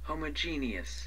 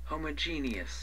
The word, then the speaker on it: homogeneous: G 的话把它拉长音 homogeneous 这是美国人的发音 homogeneous homogeneous 同种的哈，同类